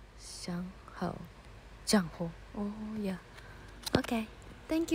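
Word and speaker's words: Zhang Hao: Tunggu, tunggu, Jangho. Bacanya gitu. Shangho.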